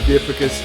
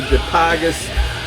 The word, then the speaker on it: Dipygus: I'm sure all you guys are familiar with Dipicus. I hear some people say Dipygus. I've never heard the band say their own name, so I don't know how to say it, but I think it's Dipicus.